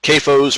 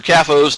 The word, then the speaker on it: CAFO: Normally, large animal feeding operations, large AFOs, you also hear them called CAFOs or CAFOs, depending on how you pronounce it, concentrated animal feeding operations,